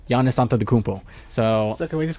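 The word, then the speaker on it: Giannis Antetokounmpo: like it was like this is how you say my name Yanis anta the coop oh and and then he was like he said it in full motion was like Yanis onto the cumple so that was called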